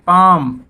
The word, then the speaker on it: palm: जैसे PALM बोलते हैं पाम, हथेली, तो यहाँ पे एल साइलेंट।